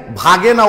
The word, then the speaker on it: Waage: German ভাষায় তো ডাব্লু কে ভি এর উচ্চারণ করা হয়, তখন ভাগে উচ্চারণটা আসে।